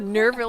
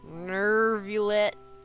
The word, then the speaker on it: Neuvillette: I can't believe Neuvillette allowed them into the Nervil- court of Fontaine just Nerv- like that. Neuvillette. Why'd she pronounce it like that?